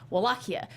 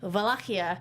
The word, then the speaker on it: Wallachia: it's it's basically in in English it's Wallachia but it's actually valkia in romanian because in romanian you